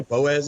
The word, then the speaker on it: Boaz: Yeah, Boaz, Alabama.